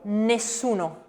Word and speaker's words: nessuno: Then we're going to go to the dental N, which is nasal, voiced and dental. And examples of that, Chiara? nessuno, Nessuno.